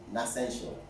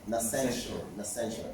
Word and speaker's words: Nassential: here in UK, is Nascential. Sorry? Nascential. N-A-S-S-E-N-T-I-A-L. So it's like Nature's Essential.